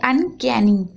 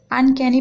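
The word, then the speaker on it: uncanny: सिर्फ उसको सा पढ़ेंगे तो यहां पर आपको सिर्फ ना पढ़ना है और लास्ट में वाई है तो वाई को अगर लास्ट में होता है वाई तो उसको ई की मात्रा पढ़ते हैं उसको या नहीं पढ़ना है आपको ई की मात्रा पढ़ना है तो नी होग क्या ठीक है इसको पढ़ेंगे अनकैनी अनकैनी पढ़ना है आपको याद रहेगा बट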